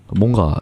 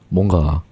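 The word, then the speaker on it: 뭔가: Most Koreans don’t pronounce "mweonga" clearly. It’s more like "monga."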